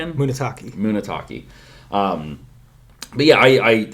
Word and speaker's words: Munetaka: Very good pronunciation. Uh I What's the first name again? Munetaka.